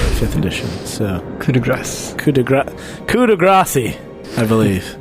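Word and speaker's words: coup de grâce: edition so could aggress coup de grace I believe coup de grace coop coop to Gracie pronounced like grass pretty much yeah well that's what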